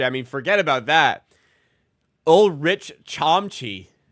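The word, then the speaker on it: Ulrich Chomche: Rich Chamchi. It's pronounced Olri Shamshe.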